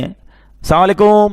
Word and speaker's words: السلام علیکم: بھی نہیں آتا۔ ہاں سلام کی تلفظ ہی ٹھیک نہیں ہے، السلام علیکم، السلام علیکم، یہ سلام نہیں ہے، بلکہ بعض اوقات تو اس کے میننگ ہی آؤٹ ہو جاتے ہیں۔ سلام کیا ہے؟